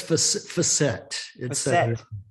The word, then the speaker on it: Fawcett: It's Fawcett. It's a French word.